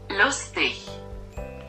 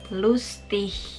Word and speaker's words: lustig: untuk kata seperti ini, G-nya itu mereka seperti tidak dibaca, seperti dilepas saja atau seperti huruf H gitu. Contohnya itu begini loh, gue pakai Google Translate di HP. Lustig. Lustig.